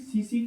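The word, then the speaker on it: tsetse: career कौन होता है सीसी फलाई होता है होता एस एस सीला ठीक है सी स सीसी फलाई सीसी फलाई साइलेंट कता है ठीक है मेंटल नेस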